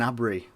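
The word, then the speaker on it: Gnabry: player surgeon a Bri I think that's how you say his name not the best with some names but when you put a G in front of an end what am I meant to do anyway Douglas Costa is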